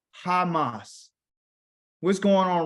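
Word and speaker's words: חמס: They call it Hamas in English, but their real name is Hamas.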